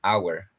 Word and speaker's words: hour: sonido vocal como an Hour no se pronuncia la h en esta palabra y el a se